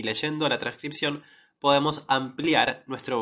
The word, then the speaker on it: leyendo: decir, ah, bueno, ok, la palabra leyendo, ¿sí?, se pronuncia con la sh cuando tiene la y, ¿sí?